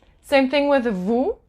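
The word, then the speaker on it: vous: same thing with the Vu you don't pronounce the S and o u is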